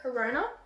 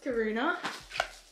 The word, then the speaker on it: Karuna: This is the, how do you say that? Corona? No. Karuna? Karuna.